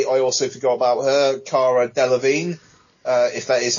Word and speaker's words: Cara Delevingne: They are assembled by Viola Davis's Amanda Waller to combat a threat played by, I also forgot about her, Cara Delevingne, if that is how you pronounce her name.